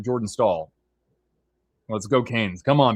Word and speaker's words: Staal: But uh stall or not stall rhymes with stall, Taylor Hall with a shot there.